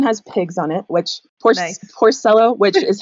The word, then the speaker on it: Porcello: This one has pigs on it, which Porcello, which is how I pronounce my name, but you should pronounce it Porcello, and that means little pig in Italian, so I think that's kind of fun.